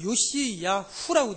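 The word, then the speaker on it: יֹאשִׁיָּהוּ: 이 요시아라는 원어 발음을 보면 요시야후라고 되어 있습니다.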